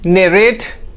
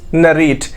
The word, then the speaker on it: narrate: One is narrate and the next one is narrate. Both is right. एक American है और एक British है. दोनों में डिफरेंस हम देख लेते हैं. यहाँ पे ने में स्ट्रेस देना है.